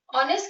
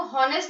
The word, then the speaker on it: honest: ऑनेस्ट की spelling है इसमें, ये हम इसको हॉनेस्ट नहीं पढ़ते हैं, इसको हम ऑनेस्ट पढ़ते हैं, ये अ का साउंड दे रही है, ये हमारे